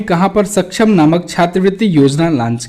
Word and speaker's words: सक्षम: ठीक है, तो ये होगा इसका फुल फॉर्म, इसी वजह से ये है इसकी स्पेलिंग SASCM। इसको हिंदी में सक्षम पढ़ा जाएगा।